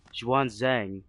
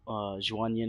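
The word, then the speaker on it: 玄奘: Okay, yeah, I keep saying Zhuan Yin, but it's Zhuan Zhang, Zhuan Zhang, Zhuan Zhang. My fault. Yeah, I kept saying Zhuan Yin on accident because I was reading Guan Yin, like yeah.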